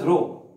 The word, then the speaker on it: rho: depth from the free surface of the liquid Rho this is called as Rome pronounced as Rho this is the density of the liquid and